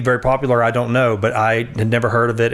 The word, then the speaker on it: Buti: Buti. That's what I thought. Okay. And I thought, okay, I've never heard of this before. Yeah. And it may be very popular. I don't know, but I had never heard of it.